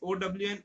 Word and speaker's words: one: Its pronunciation is OWN, own, but we write it as ONE, own. If if the ketone is